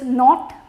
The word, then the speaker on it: knot: The next is knot, K-N-O-T, without the pronunciation of K.